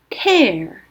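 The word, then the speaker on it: tear: 눈 에서 떨어지는 물방울 을 의미 하는 명사로 사용 될 때 는 로 발음 됩니다 .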